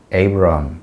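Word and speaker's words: Abraham: 그래서 우리는 이제 아브라함이라고 그러고 영어 발음은 에이브라함 이렇게 얘기를 하죠.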